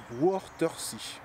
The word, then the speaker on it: Wörthersee: D'ailleurs, j'englobe l'Allemagne, parce qu'une grande majorité d'Allemands viennent à l'endroit où je vais aller, à Wörthersee. C'est comme ça que ça se prononce.